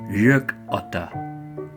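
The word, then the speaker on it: gökotta: yuck utter jerk oughta say it like it's two words the G making a sound a little like an English why yuck oughta this word comes from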